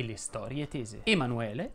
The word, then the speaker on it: Emanuele: e le storie tese emanuele si pronuncia con la è aperta alfredo invece va con